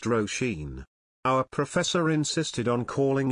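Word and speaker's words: Róisín: which is I believe Gaelic for little Rose pronounced rosheen our professor insisted on calling her oseen she corrected him multiple times but he'd say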